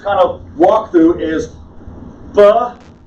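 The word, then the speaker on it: בראשית: The word we just kind of walked through is Bereshit.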